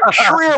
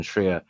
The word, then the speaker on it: Schreier: Schreier like a shear. Shear.